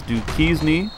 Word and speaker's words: Duquesne: the next game is Duke keys need I pronounce the Duquesne in the last video I do apologize for that but it is duties me the Dukes mercy buck now bison in the